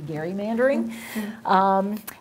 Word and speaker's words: gerrymandering: of massachusetts elbridge gary so if we were pronouncing things correctly it should really be gary mandering and there was this